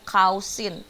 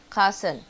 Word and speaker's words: cousin: trouble oke di sini hurufnya sama o sama u Tapi yang satu bunyinya au yang satu e jadi kalau jangan salah pengucapannya jangan mentang-mentang yang atas maous au yang bawah juga jadinya kausin bukan ya tapi e cousen bukannya double tapi e double